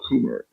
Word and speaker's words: Kummer: Well, we We got also a number of people joining us, and Michael Kummer. Is that how you pronounce it, Michael?